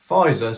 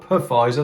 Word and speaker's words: Pfizer: vaccine and profit or pfizer sorry not puffizer they spell it with a silent p like my mate rick